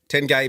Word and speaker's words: Tengay: Tengay managed to well, hook up with a woman. That's how you say his name. Yeah. They kept it a secret for a little while. Not 1 gay, 10 gay.